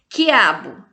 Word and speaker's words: quiabo: Quiabo, eu não pronuncio o U também aqui não, então aqui é um fonema só.